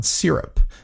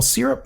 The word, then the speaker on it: Syrp: My short end this week is a company out of New Zealand called Syrp, and they spell it a little bit funny.